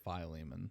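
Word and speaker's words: Philemon: I really never knew how to pronounce like ph I've always said fiman but I've heard people a lot of people say phileman.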